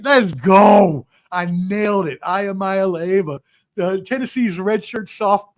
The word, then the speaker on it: Iamaleava: Nico Ayamaya Leva. Boom. Nailed it. I Let's go. I nailed it. Amaya Leva, the Tennessee's red shirt soft sophomore quarterback surprised